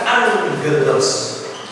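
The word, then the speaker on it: ἄγγελος: ini seperti ini ya contoh o angelos maka dia akan diucapkan angelos jadi di sini do G maka transiterasinya adalah ng dan G maka transliterasinya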